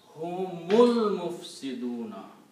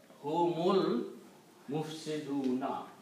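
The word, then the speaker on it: هُمُ الْمُفْسِدُونَ: Don't pronounce this alif. And when you do not pronounce the alif, then this sign goes away and we put a little swad there called hamzatul wasal. Miss, do not pronounce alif. So the pronunciation will be humul mufsiduna.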